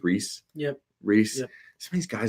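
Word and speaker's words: Rhys: Reese Hoskins, or I don't know how you pronounce his first name. I think it's Reese.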